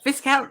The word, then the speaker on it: Viscount: Viscount rhymes with discount.